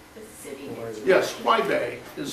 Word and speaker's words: Huaibei: Would you please spell the name, spell the town, the city that you Yes, Huaibei is spelled H-U-A-I, that's Huai, B-E-I, Huaibei.